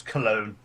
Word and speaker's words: Cologne: It's Cologne. As in, like, stuff you splash on your face.